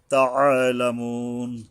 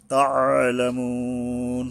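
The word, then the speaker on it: تَعْلَمُونَ: তাআলামুন, তা, এই আইন উচ্চারণে গলা চেপে সাবধান উচ্চারণ করতে হবে।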